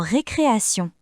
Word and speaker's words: récréation: Dans certains mots, la lettre T fait le son S. Comme dans récréation.